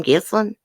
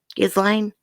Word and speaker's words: Ghislaine: I was like, is that how you pronounce her name, Ghislaine? Ghislaine?